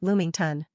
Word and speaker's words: lamington: It's pronounced Loomington.